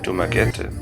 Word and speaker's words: Dumaguete: Nachdem wir uns vorher mit den Philippinen sehr schwer getan haben und der Mentalität sind wir in Dummer Gente und das wird genauso ausgesprochen zum ersten Mal richtig angekommen.